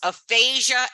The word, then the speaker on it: aphasia: And here are two examples, aphasia and aphasia. And you hear the way I say it? They both sound exactly the same.